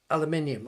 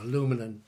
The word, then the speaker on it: aluminium: What about aluminium or aluminum, as our American friends Americans say?